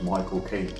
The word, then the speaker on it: Michael Caine: my my uncle says if you want to know how to pronounce the name you just say my cocaine as in the drug and then you'll get the exact pronunciation that he himself was michael king that's exactly how he